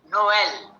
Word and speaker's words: Noël: naive, or in French, Noël. Okay, Noël is what is it? Noel is Christmas. Okay, so Noel, N-O-L, and you put two dots on the E on top to make it sound.